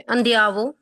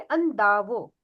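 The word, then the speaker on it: andavo: क्या बचा ठीक है अंधियावो अंधियावो नहीं अंधावो अंधावो हां प्रोनाउंस नहीं आप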